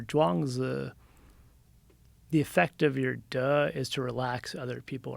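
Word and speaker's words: 德: translation for it and unfortunately in mandarin it's pronounced duh that's hilarious it's called uh yeah but it's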